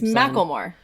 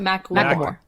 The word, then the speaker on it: Macklemore: to say his name it's macklemore not mac more macklemore all more not matter like a mackerel like a mackerel like the fish mackerel more yeah that's even